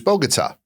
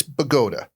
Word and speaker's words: Bogota: There is a town in New Jersey uh called uh when I moved to New Jersey, it was Bogotaa. It's spelled just like Bogota, but it's Bagota.